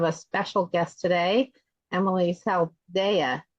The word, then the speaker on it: Saldaya: and I have a special guest today, Emilee Saldaya, right? Saldaya is how I pronounce it.